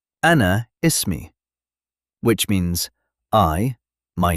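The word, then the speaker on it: اسمي: To say my name is you say ismi. Let's break it down. ism. Now add your name. Ismi again. Ismi. Perfect. Example is mem Ahmed. Ismi s. You can also say ismi which means I my name is.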